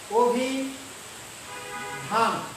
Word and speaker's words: অভিধান: উদাহরণ দেখো দিলাম, আমরা এটা একটা দিলাম, আমি শব্দটা বললাম অভিধান, এটা হচ্ছে শব্দ। যখন আমি এটা উচ্চারণ করতে যাব তখন দেখো অ হয়ে যাচ্ছে ও, অর্থাৎ এখানে অটা কি হয়ে যাবে? ও এর মতো।